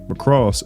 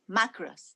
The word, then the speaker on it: Macross: being an anime called mcross Dynamite 7 a 97 over from the mcross series I'm not sure if I'm pronouncing that right by the way it's macras okay my fault Maus it's